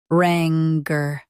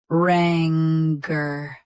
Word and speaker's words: rancor: Rancor. Both US and UK have the same pronunciation of this word. Stress ran. Keep cur soft and quick. Rancor. Rancor. Stress ran. Keep cur soft and quick.